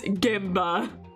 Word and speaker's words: Genba: But, you know, I never would have started pronouncing Genba right if I wasn't called out for that. So I would have kept saying Genba this entire time when it's Genba. M sound.